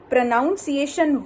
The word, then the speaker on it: pronunciation: The correct pronunciation word to say is pronunciation.